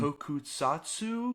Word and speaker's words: tokusatsu: Tokusatsu?